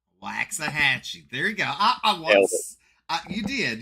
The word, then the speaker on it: Waxahachie: league rules cool on another note it is waxahachie waxahachie there you go you did you did i